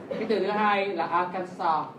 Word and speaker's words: Arkansas: Cái từ thứ hai là Arkansas. There is no S at the end.